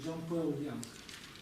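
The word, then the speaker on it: འཇམ་དཔལ་དབྱངས: Они так говорят Джампел Янг.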